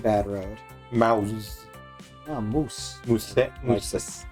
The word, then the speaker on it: mousse: Mousse. Like the chocolate. Mousse. You don't pronounce that mousse? No. You don't pronounce it mousse? It's French, not Spanish.